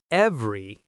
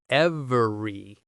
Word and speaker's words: every: every word in lecture. The word every is usually not pronounced fully as every.